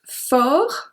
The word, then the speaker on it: fort: Numéro 6, the adjective fort, forte. So we don't pronounce the T on the first one.